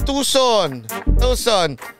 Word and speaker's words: Tucson: Pronounce as Tucson.